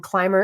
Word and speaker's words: Climer: And Clymer is spelled Climer. There's no B.